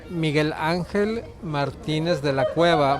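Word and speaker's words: Miguel Ángel Martínez de la Cueva: name so then i can say it properly miguel angel martinez de la cueva martinez de la cueva is my father's last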